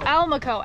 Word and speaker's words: Almaco: How do you say it? Almacoa? Almaco. Almaco. And like we caught Almaco, the gas station, but with an L.